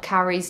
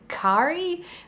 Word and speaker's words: Kauri: I think I really messed up Kauri's name the first time I pronounced it. I think I said Kauri. I think it's more pronounced like Kauri.